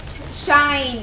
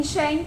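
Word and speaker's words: Shein: I think, ano to, Shine. Ayan. Dati yung vlog ko dati. Shin ako ng Shin. Shine pala ang tawag dyan. Ang tamang pronunciation.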